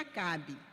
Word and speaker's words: Acab: Para quem não está acompanhando com a Bíblia, Acabe é A-C-A-B, B mudo, e pronuncia Acabe.